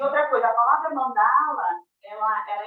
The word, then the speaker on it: Mandala: último vai ser longo então é Mandala ou manda lá tá bom a primeira sílaba é longa porque tem encontro consonantal do n com o d Mandala que mais Então tá